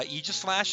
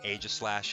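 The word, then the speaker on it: Aegislash: I always say Eegislash. Um, Eegis, like the shield from Greek mythology. Uh, also because I'm a big Xenolade fan, of course. Um, but uh, some of you will say Aegis Slash and like, all right, that's fine. You can pronounce it that way, but I'm going to pronounce it Eislash.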